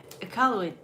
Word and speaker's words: Iqaluit: Oh, I forgot the pronunciation already. What? Iqaluit.